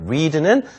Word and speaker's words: read: read는 과거형도 철자는 똑같으나 읽을 때는 read 이렇게 읽어야 되죠. 빨간색 할 때 read랑 발음은 똑같죠.